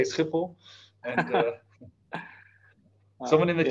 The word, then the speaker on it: Schiphol: Is that Schiphol Airport in the background? Yes, it is. Yeah. one Is of there? our infrastructure hubs. Okay, okay. And the pronunciation is Schiphol.